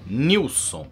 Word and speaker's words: Nelson: o emblema da Nilson se escreve escreve-se Nelson mas dizem os catarinenses que se pronuncia Nilson muito bem poltronas neste